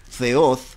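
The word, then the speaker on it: θεός: compuesta a significa sin y theo que en realidad en idioma griego se pronuncia feos en que el nombre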